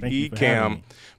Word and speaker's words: Ecamm: hang out with us today this is the ecam behind the stream set up like did i